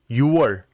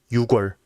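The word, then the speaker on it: 유월: June is pronounced 6월, not 6월.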